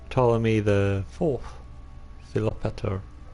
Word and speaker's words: Ptolemy: of Egypt cool talk I can't do it with a silent P Ptolemy the fourth a lot